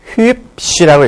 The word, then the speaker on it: hübsch: 이거 어떻게 읽습니까? hübsch라고 읽습니다.